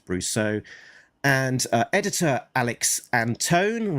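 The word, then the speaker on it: Antone: Uh letter letterer is Pat Brusso and uh editor Alex Anton rhymes with phone.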